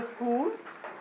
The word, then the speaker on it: school: How to spell school?